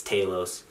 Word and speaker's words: Talos: uh I forgot already figure out how they pronounced I think it's Talos I thought was Talos it's Talos um God he was hilarious he had really